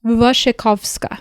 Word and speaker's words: Wasikowska: The actress who plays the main character Edith Cushing, her name is Mia and this is me following the pronunciation guide on Letterboxd. Wasikowska Oh, okay.